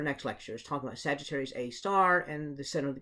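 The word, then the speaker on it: Sagittarius A*: of sagittarius a and we call that sagittarius a with little asterisks there everybody pronounces that as sagittarius a star and so that actually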